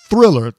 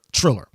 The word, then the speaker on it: Triller: It's now Triller, I think, if I'm pronouncing that right. It's not Thriller, Triller.